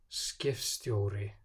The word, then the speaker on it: skipstjóri: Before T or S, it's pronounced like an F. Skifta, skipstjóri.